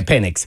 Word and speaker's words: Penix: Is that how you pronounce it? Penix. Yeah, Penix.